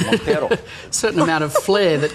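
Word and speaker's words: Monteiro: Is pronounced. Okay. You must say it like that, Montero. Montero.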